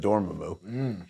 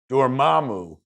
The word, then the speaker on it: Dormammu: Hearing Dormammu pronounced, I'd always said Dormammu. Hearing it pronounced officially, that comes from the Marvel powers that be, Dormammu.